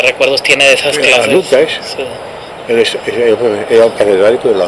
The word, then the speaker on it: Lukács: ¿Cómo se pronuncia Lukács? Lukács.